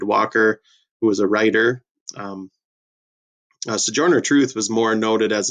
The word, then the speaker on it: Sojourner: Sojourner is how that is pronounced, Sojourner Truth.